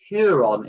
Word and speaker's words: Huron: I believe it's Huron is how you say it. H-U-R-O-N. My pronunciation's never great.